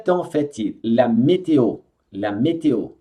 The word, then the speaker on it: météo: La météo. Tem dois acentos, então é météo. La météo. E aqui pronuncia o O.